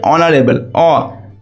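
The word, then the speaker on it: honourable: ঠিক আছে, তারপরে কী দেওয়া আছে, ব্রাটাস ইজ ড্যাশ অনারেবল ম্যান, তো এখানে এইচটা কনসোনেন্ট, কিন্তু এর উচ্চারণটা কীরকম হচ্ছে, অনারেবল, ভাওয়েলের উচ্চারণ হচ্ছে, তো এখানে এ হবে না অ্যান হবে।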